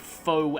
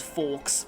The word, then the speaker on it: faux: of the TV trope faux affably evil. That's F-A-U-X, which I used to actually pronounce as forks, but no, because I'm terrible at French.